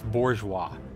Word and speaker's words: bourgeois: not I remember the word make sure I'm pronouncing it right for one bourgeois bourgeois it's bourgeois and it means a a person whose political